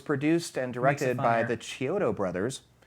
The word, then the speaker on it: Chiodo: It was produced and directed by the Chiodo brothers. I believe that's the correct pronunciation. That's how I've Chiodo. always heard it, Chiodo brothers, whose background is really in animation and special effects.